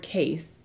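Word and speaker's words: Cayce: helps break that up so again google edward case EDW ard his last name is spelled see a why c e thanks for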